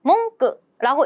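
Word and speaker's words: 文句: 이걸 발음은 비슷해요. 몽끄라고 읽습니다만 우리는 문구라고 하면 약간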